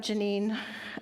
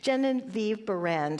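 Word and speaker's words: Genevieve Behrend: But I was thinking about Janine uh Genevieve, let me say it right. Jennine Viv Band who was Thomas Trowward's only student and she wrote this wonderful book your invisible power.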